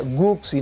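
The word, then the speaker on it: Götze: cuando lo tenían controlado, Guxi, porque así se pronuncia Guxi, no Gexe, Guxi, nunca había tocado la primera pelota que toca y se va adentro.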